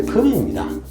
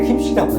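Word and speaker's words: 金: 근데 우리가 한자로 쓸 때는 원래 금입니다. 금입니다. 원래 금인데 이걸 왜 김씨라고 읽을까?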